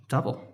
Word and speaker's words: Tuple: It's actually Tuple. Tuple. My bad. And everyone was listening. That's not fair. We pronounce it Tuple. Tuple is a totally legitimate pronunciation of that word as well. So, all right, we'll go with Tuple. You're clear in either way.